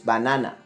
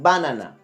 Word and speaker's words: banana: as you will notice I will pronounce harder the second syllable bad Nana so it's banana it's not like banana or banana so you have to